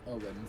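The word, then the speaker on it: Eoghan: First of all, my character's name is Owen, spelled E-O-G-H-A-N.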